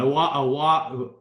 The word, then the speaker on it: Iwuagwu: Owagu.